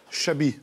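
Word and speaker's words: Xabi: Comment ça se prononce? Chabi.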